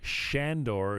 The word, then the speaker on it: Sandor: same for a reason sandor shandor is of the correct pronunciation seems to be one